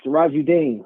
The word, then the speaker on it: Sirajuddin: Yo, Sirajuddin from Chicago. From Chicago. Say your name one more time, sir. Sirajuddin. Sirajuddin? Did I say it right? Yeah. Okay. Sounds like you're saying Dean.